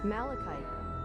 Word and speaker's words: Malachite: Is it pronounced Malikite or Malachite? Malikite. going to chat. Yeah, this this this is a lot of Dawn Trail is about grief sadly. Well, like it's it's a good important theme. It's just it's rough for when you're going through it yourself. I'm sorry. I'm googling the word Malikite. Pronounce Malachite. Malikite. Okay, I am pronouncing it correctly.